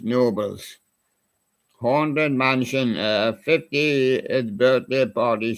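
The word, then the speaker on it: Knoebels: We have Nobels here, but he didn't pronounce it with a K. It's just Nobles.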